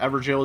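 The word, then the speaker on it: Evergaol: Took me so long to find out EverJail is pronounced Everjail.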